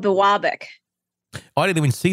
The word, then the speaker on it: Biwabik: United States is going to screw up the pronunciation of the city. It's called Biwabik. Oh, I didn't even see the name of the city on here. Yeah, Biwabik.